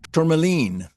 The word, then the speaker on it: Tourmaline: and writes about it in her book, Forever Turmoline. You and I talked about how to pronounce that. It's turmoline.